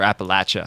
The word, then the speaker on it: Appalachia: off the grid in Appalachia or Appalachia how they pronounce it down there in like Eastern Kentucky